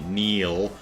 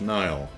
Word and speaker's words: Neil: Lou says, but the pronunciation of Neil depends, or Nile, depends on whether it's Scottish, Neil, or Irish, Nile.